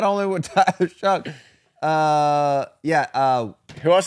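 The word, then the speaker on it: Shough: But I like Tyler Show. Tyler Show was actually a dog, though. You know what I Shuck, by the way. Is that how you pronounce it? Shuck.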